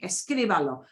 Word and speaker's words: escríbalo: You're not going to be writing this, but know that the way you pronounce escriba, escriba, where you put the stress, it stays the same.